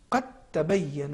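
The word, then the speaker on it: قد تبين: قد تبین ادغام کریں گے, دال کو نہیں پڑھیں گے, اس کے بجائے ہم حرف تا کو تشدید کے ساتھ پڑھیں گے.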